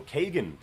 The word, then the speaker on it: Kagan: right the first time pronounced like pagan so kagan very nice very nice